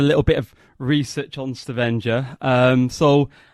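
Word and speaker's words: Stavanger: and you live in is it stenger is that how you say it yes stenger which is on the the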